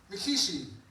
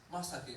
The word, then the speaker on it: Masaki: out order up for mikishi Miaki maso is it is it you it's masaki actually I think to myself